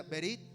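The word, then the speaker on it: ברית: que es un pacto un pacto en hebreo se pronuncia berit que significa alianza y denota una tiene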